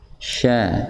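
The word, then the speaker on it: ش: Jadi ingat ya, shin dari keluarnya, tempat keluarnya itu lidah bagian tengah bertemu dengan langit-langit berada tepat di atasnya. Sya.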